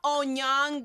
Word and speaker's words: Onyango: That is not how you say it. It's Onyango, which is one thing that I also really miss.